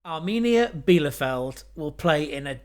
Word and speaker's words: Arminia: It's actually pronounced Armenia.